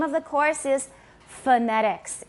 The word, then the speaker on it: phonetics: It's not phonetics because is the first syllable stressed? Phonetics. 第一个音节有重音吗? No. Many unstressed syllables in English are pronounced with an upside down E, which is called a schwa. It's also called a neutral vowel. In Chinese, it's called a yang yin, 倒写的一个小写的 E. So it's pronounced phonetics. Phonetics.